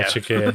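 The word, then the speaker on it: Çakır: There's another one that I'm really bad at pronouncing. Shakir. Yeah, there we go. Shakir, yeah, Shakir is really good.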